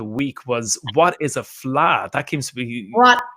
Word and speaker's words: fleadh: um that is and the way you say it as well in case anyone is looking at that word and thinking how do you say it is fla fly i know i'm